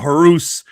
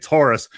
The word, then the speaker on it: Horace: Again, it's not Horus. It's Horace. We were taught by Selena how to say it.